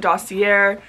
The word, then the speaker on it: Dossier: Some people call it Dossier. It's a French pronunciation by saying Dossier.